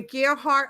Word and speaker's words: Gearhart: spelled g-e-a-r-h-a dot com so it's like a gear like the gear and uh the heart without the e and you put them together and you stick a